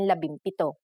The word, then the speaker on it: labimpito: If a P follows the NG connector, the NG becomes an M, just like in labimpito.